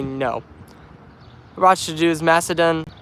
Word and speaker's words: Macedon: What to do is Macedon. It's pronounced Miss As Done.